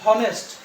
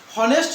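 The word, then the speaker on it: honest: এন এসটি আমরা কিন্তু এটাকে বলি না যে হনেস্ট এইচ রয়েছে এস মানে কি কনসোনেন্ট তার আগে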